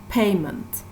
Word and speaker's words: payment: And the other noun, payment, payment. So here the stress is on the first syllable, pay, payment. And look at the last column together.